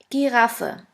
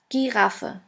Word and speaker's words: Giraffe: the German word is Giraffe. Giraffe, which means giraffe. As you can see, the word Giraffe is written exactly the same way as in English, but the pronunciation is completely different.